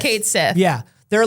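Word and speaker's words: Cait Sith: Kate Shish. Shish. Shishish. The Banshees of Inisharn. Yeah, whoever can do the Irish pronunciation for it.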